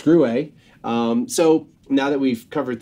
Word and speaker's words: Gruet: words like that right but so yeah it's grew a so now that we've covered that and now